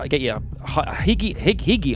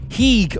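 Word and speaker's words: hygge: So sit back and get your higgy, I've got my script here, H-Y-G-G-E, how would you pronounce it? Heeg on while we update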